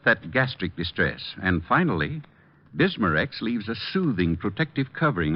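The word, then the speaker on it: Bisma-Rex: slowly ease up that gastric distress and finally bismarex leaves a soothing protective covering on irritated stomach membranes well I'll have to remember that bismarex is that how you say it that's right ma'am b-i-s-m-a hyphen r-e-x bismarcks ask for bismarcks at Rexall Drug stores everywhere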